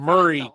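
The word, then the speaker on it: Maury: They call it Murray County. It's spelled my but it's pronounced um there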